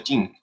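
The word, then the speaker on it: Qing: mataran para dejarlo alguien sin escribir kings pero se pronuncia chin fue muy poderosa llegó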